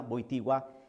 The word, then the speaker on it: Wojtyła: Así se pronuncia Wojtyła, que posteriormente fue, obviamente, su santidad San Juan Pablo II.